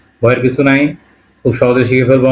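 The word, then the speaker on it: К: এটাকে রাশিয়ানে বলবে কি কা, এবং উচ্চারণটা হবে কয়ের মতো।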